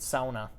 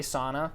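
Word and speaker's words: sauna: goes back to the people that felt strongly about it were more so the people that pronounce it sona the people that say sana could could have cared less how I had it in the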